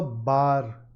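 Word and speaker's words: barre: This is pronounced a bar class.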